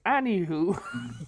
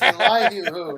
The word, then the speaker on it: Elihu: Anywho. It's a lie to who, not any who.